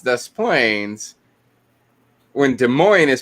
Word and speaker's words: Des Plaines: town called des plaines drove me nuts that death planes is pronounced dust planes when des moines is pronounced des moines yeah